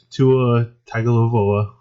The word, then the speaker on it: Tua Tagovailoa: big declaration, and that is that Alabama quarterback Tua Tagovailoa, which let's just state the fact that I pronounced that name correctly, or as close as it's going to get without stumbling through it.